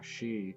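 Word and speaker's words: し: The slight exception to this is she, which adds a soft H sound. She. That's what I said, right? She.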